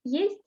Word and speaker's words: есть: In the word есть, it's not e, it's е at the beginning. Есть.